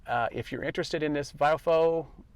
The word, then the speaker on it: VIOFO: you're interested in this biofo I think that's how you pronounce it biofo uh but it's spelled v-i-o-f-o if you're interested in